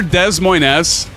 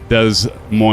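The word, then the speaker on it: Des Moines: having coffee bunny for my drive down to De Mo to Des Moz I love when people say oh are you near Des Moes yes it's pronounced de Mo but hey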